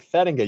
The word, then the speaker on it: Thedinga: You got it, man. It's Thedinga. You said it exactly the way that it is.